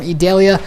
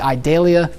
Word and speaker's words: Idalia: right now tropical storm idalia I actually look up how to pronounce that I thought it would be idalia but it is idalia it currently has a